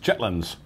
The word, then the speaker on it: chitterlings: But it's pronounced chitlins. That's good. Now again, because, well, we bought this in a specialty shop, very labor-intensive dish, a pint container of chitlins was, I think, $9.90 or something like that.